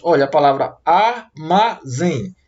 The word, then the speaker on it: armazém: Olha, a palavra armazém. Divida a palavra armazém em 3 sílabas. Armazém. E a sílaba que eu pronuncio com mais intensidade é a sílaba zen.